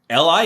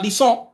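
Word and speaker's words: lisent: but that's still pronounced li it's not lee song it's pronounced li so it's still and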